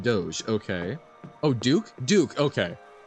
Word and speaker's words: Doge: Venice no please oh my God it is pronounced like Doge okay oh Duke Duke okay the IPA was